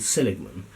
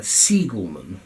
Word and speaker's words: Siegelman: But what the two authors have done, this is Schwartz and Seligman, or rather Siegelman, I must pronounce the name correctly, I do apologise if I've not pronounced the names correctly, Schwartz and Siegelman.